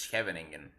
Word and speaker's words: Scheveningen: I think it's Scheveningen, the Dutchies say.